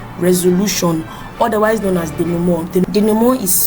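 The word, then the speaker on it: dénouement: later moves to resolution otherwise known as the dumo is spelled d e n o u e m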